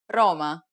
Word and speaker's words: Roma: then let's get started the first consonant is roma cuatro this is also known as a rolled r or rolling your r's lightly contact the gums directly behind your top teeth with the tip of your tongue and try to direct just enough air through it so that the opening opens and closes rapidly as if fluttering or vibrating it almost sounds like